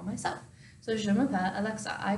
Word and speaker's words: je m'appelle: So it's je m'appelle. So it's phonetically pronounced je m'appelle.